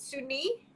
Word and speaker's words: Sunee: so um thank you how do you pronounce your name is it sunny it's sunny it's easy oh that's beautiful um